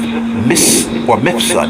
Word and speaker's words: Mifsud: Joseph Mifsud. It's spelled M-I-F-S-U-D.